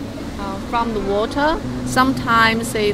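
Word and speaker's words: 鱼: lucky symbol because um fish in Chinese pronunciation means U uh it's the same pronunciation that actually means that exra because the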